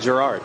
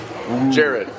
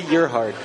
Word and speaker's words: Gerhard: Pronounce it. How do you say it? Gerhard. Nope. Jared.